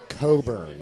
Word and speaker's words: Cockburn: Richard Coburn. Yeah. So the CK was silent.